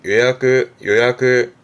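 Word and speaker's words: 予約: 발음은 요야크.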